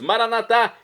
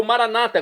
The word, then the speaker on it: maranatá: aramaico, dialeto de Jesus, maranatá, como dizemos nós católicos, ou maranata, como dizem nossos irmãos separados, das igrejas, das comunidades evangélica, comunidades evangélicas ou protestantes, não importa a pronúncia, o significado é o mesmo.